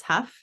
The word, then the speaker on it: Hough: And Huff is spelled Hough, not Huff. I always say it's like rough or tough, but it's Huff.